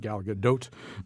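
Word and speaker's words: Gal Gadot: for you it stars galgadot I looked it up that's how you say it Galaga doe um as Wonder Woman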